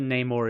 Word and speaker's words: Namor: I always used to call him Namor until I heard it spoken. But apparently Namor is the correct way to say it.